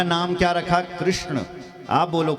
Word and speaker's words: कृष्ण: का नाम क्या रखा कृष्ण आप बोलो कृष्ण बोलो कृष्ण कृष्ण बोला है कृष्ण ण यम गणना नाम नासिका च यमा गणन इनका उच्चारण नासिका से होना चाहिए कृष्ण बोलो ना